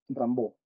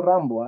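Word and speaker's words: Rimbaud: ber el legendario Arthur Rambo escribe rba se pronuncia ramb no Rambo es otro ramb ahí ellos son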